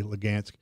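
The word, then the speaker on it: Luhansk: The H's are pronounced with a G, Lugansk, and that goes all the way around.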